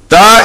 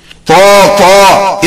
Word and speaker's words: ت: Ta is pronounced by joining the tip of tongue and the root of two teeth of upper jaw, and should be read soft as ta, ta. To, to is wrong.